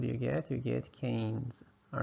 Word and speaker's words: Keynes: name H this is canes so think of this what is that that's a cane all right and then make it plural what do you get you get Canes All right so that's